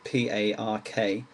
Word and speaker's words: park: And that's the same in the word park, P-A-R-K. You don't really pronounce the R, it's just park.